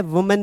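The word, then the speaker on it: women: उसी प्रकार यही नियम लागू होता है वुमेन पर। उच्चारण ध्यान रखना, इसको वुमन पढ़ा जाएगा, सिंगुलर है क्योंकि ए लगा है। इसी को जब आप क्या कर दोगे, विमेन हो जाएगा।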